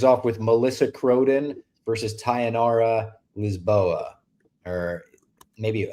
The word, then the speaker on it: Tayanara: with Melissa Croden versus Tayanara Lisboa. Or maybe, I think last time I said Tayanara and it wound up not being pronounced that way, but you just want to say it like sayonara.